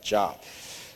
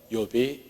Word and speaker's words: Job: Job이지만 Job이라고 하지 않죠? Job이라고 합니다. 성경에 이렇게 영어 중에 이렇게 발음을 달리하는 단어들이 좀 있는데 욥이 그렇습니다. It's a Job, not Job.